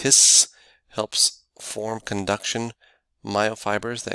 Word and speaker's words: His: Av bundle of hiss the bundle of hiss pronounced hiss helps form conduction myofibers